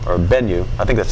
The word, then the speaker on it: Bennu: send a robotic lander to an asteroid called Bennu, or Bennu, I think that's how you pronounce it, B-E-N-N-U.